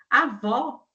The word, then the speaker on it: avó: Então, avô média alta, avó é média baixa.